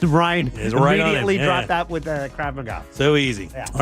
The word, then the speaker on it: Krav Maga: It's Krav Maga.